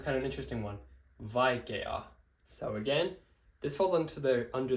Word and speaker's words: vaikea: It's not vaikea, it's vaikea. So these are distinct vowels, which means, again, we're just going to follow this rule, double that a and add n.